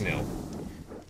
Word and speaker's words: Nil: Is this Nil? I'm sure it's Nil.